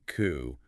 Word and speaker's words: coup: Yeah, you pronounced like coup. A coup is a plan to take power away from a leader secretly.